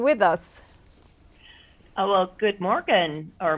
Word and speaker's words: morgon: Oh, well, good morgen, or Morin, I said. I guess you don't pronounce the G's there, so sorry about that.